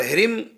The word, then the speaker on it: ह्रीं: और ह्रीम, यहाँ भी आगे को बिंदी के बाद कोई अक्षर नहीं है, तो ये आधा मां कहलाएगी, ह्रीम। और कलीम, कलीम में भी